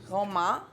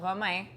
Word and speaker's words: Romain: roman en français, but romaine en anglais? It's actually romain and romaine. It's really the exact same thing. Roman? No, romain.